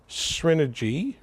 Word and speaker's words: Srinergy: And I'm with Prasad, and we're at your home here in Novi, and you own a company called Srinergy, right?